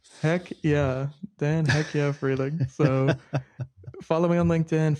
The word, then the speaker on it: Freehling: The H is silent. We can come up with something that it stands for. Uh, how about heck yeah. Heck yeah, Dan. Heck yeah. Freeling.